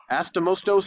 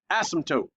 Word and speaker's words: asymptote: Astomostos is wrong. Eskimo is wrong. Now, you kind of don't say the P. Asymptote, okay?